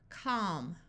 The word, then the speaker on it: calm: stock here we have a l before an m so the a will have the broad a sound of a and the L will be silent calm Palm B balm CH